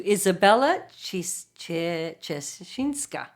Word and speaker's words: Izabela Ciesinka: Welcome to Izabela Ciesinka.